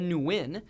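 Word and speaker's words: Nguyen: flip side you got Win Ben Win Ben Win Ben wi did you know that one cuz you know what I I you don't pronounce the N I know a few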